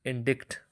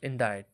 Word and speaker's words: indict: ChatGPT has summarized it, which sounds like indict, rhyming with kite, even though it has a C in the spelling, but C in this case is silent, so it has to give the voice of recite, kite.